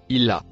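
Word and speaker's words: إلى: Le deuxième mot en bleu foncé se prononce il a.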